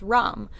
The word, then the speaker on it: Ram: The mantra for the solar plexus is Ram, so it would be Ram, and it's spelled R-A-M, but I don't think it's Ram, I think it's Ram.